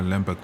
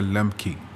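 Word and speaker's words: Lembke: surprised me when Dr Lamberg mentioned it let me just correct myself it's Dr lmy I've actually been saying it wrong this whole time anyways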